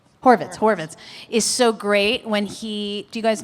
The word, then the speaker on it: Horvitz: So you it it does require um which is why Richard who wait why am I pronouncing his last name? Horowitz Horvitz. Horvitz Horvitz is so great when he Do you guys know who he is?